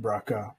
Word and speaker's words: BRCA: off because she was diagnosed to have the brca that sometimes pronounced braca but it stands for breast cancer b-r-ca Gene